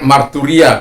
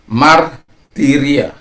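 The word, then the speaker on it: μαρτυρία: Jadi marturia itu sudah biasa saya sebutkan dengan ya pronunciation-nya, walaupun itu bagi saya itu salah gitu ya. Sebelum saya mengetahuinya, jadi marturia. Sebenarnya martiria. Nah, upsilon di situ.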